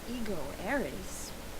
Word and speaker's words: ego eris: Tu fui ego eris. Weird writing. What was that? So we said it. Tu fui ego eris. Ego eris is the correct Latin pronunciation.